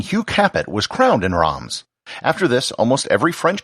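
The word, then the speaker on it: Reims: the champaign region is rams or as it's often pronounced in english reems this is noteworthy because in 987 the french king hugh capette was crowned in roms after this almost every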